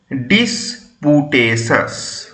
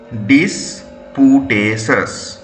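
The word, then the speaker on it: disputatious: ইউ টি এ টি আই ও ইউ এস উচ্চারণ কি হবে ডিসপুটেস ডিসপুটেস ডি আই এস পি ওয়াই ইউ এইচ টি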